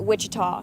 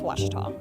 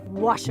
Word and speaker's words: Ouachita: for was Baptist University back in Texas everybody pronounces it Witchita but really it's was was was how would you pronounce it was was